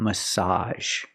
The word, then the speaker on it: massage: she's getting a massage make the open a sound like hot and stop plus the z sound together a massage Carol was the only